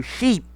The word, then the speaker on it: sheep: Tomem bastante cuidado com a pronúncia do sheep, porque nós temos o sheep, que é a ovelha, e nós temos o cheap, que é barato, né? Então, tomem bastante cuidado com a pronúncia. É diferente.